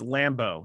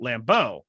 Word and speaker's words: Lambeau: grass is it isn't lambeau though they have the uh the warming coils under the i don't know why i split it into two syllables it's lambo not lambeau oh i was about